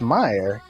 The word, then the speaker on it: Mayer: Yeah, he's saying Meyer. It's Meyer. But that's spelled Mayer.